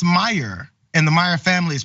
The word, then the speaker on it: Meijer: Also, Preeti Kothari says they work in television production, and they wrote, it's pronounced Meyer.